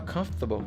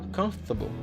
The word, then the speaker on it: comfortable: Por exemplo, quando você vê essa palavra, para ler no inglês, se fala comfortable, comfortable, comfortable. Não é comfortable, comfortable, ok?